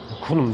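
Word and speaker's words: Khnum: başlı Tanrı kum zaten Tapınağı da kum kum diye okunuyor Daha doğrusu onun adına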